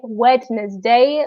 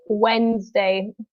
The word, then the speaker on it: Wednesday: So this is also very difficult to say for some people because the D in Wednesday is silent. So we don't say Wednesday, we say Wednesday.